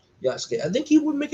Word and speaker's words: Yasuke: It's always his pronunciation. I'm always getting wrong. Yasuke.